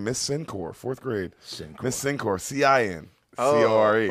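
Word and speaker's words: Cincore: For me, bro, I remember her name, Miss Sincor, 4th grade. Miss Sincor, C-I-N-C-O-R-E. Wow. Oh, yeah. That's Shout so out Miss hot. Sincor. Yeah. Sincor, but it's spelled different.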